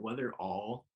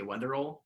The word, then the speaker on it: Wetherell: but you were surprised how do people normally pronounce it whether whether all like all like all instead of l whether or not like you say weather roll like that's like the british ways whether whether